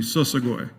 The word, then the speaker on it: Shoshone: of Shoshone Nation uh the proper pronunciation of Shoshone would be sosagoy uh means the people who travel by foot um a lot of